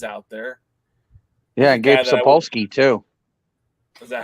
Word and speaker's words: Sapolsky: Gabe Spolowski's out there. Yeah, Gabe Sapolsky, too.